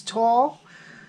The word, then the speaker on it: Toile: this paper tall tidings i would have said toil but it's tall t-w-a-l-l is how you're supposed to pronounce it and it's t-o-i-l-e tall